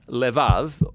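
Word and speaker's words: לבב: We're going to look at the fourth key word in this prayer, heart, which in Hebrew is sometimes pronounced levav, or more often in a shorter form, lev.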